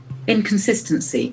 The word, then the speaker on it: inconsistency: I N C O N S I S T E N C Y. As we know, C endings plus nouns. Inconsistency. Inconsistency. The accent for the first syllable.